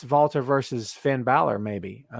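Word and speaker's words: Walter: i love this feud vaulter and i will say it the way nigel mcginnis pronounces it because i love it valtter makes an impact i love this guy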